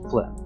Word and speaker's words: phlegm: from spelling, and sure, you absolutely would not be able to guess from pronunciation alone that, say, phlegm is pronounced phlegm.